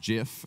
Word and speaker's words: GIF: so this guy invented the gift pronounced jiff as he would tell you back in 1987 which